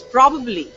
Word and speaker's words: probably: okay okay this one how do we pronounce this probab probabbly it's probably denunciation is probably see the stress stress is different in this probably and we end up pronouncing it differently probably this one Federal